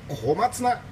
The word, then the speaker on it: 小松菜: はい、小さい松の菜っぱと書いて小松菜と読ませます。